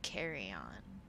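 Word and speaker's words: carrion: which have eaten infected carry-on is how you say that due to strength of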